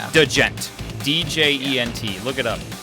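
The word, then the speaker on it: djent: spelled a DJ ent it's like doe gent DJ ENT look it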